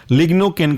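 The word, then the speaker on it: lignocaine: इसके अंदर का महत्वपूर्ण एग्जाम्पल है लीडोकेन, जिसे हम लिग्नोकेन के नाम से भी जानते हैं। लीडोकेन की स्पेलिंग है लीडो, LIDO, और केन, CAINE, लीडोकेन।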